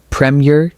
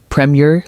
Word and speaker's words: Premier: One, premier. Two, premier League 3. Premier. Did you notice the rhythm? Premier. The first part is strong. The second part is soft and light.